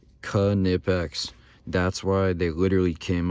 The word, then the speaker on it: Knipex: everybody says this wrong I don't care it's kanipex that's why they literally came out with a shirt pronouncing it it shows you the pronunciation on